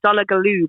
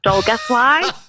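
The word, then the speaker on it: Dolgellau: I call it Donegaloo, but it's pronounced Dolgethly.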